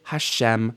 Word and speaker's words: Hashem: And you could also say Hashem.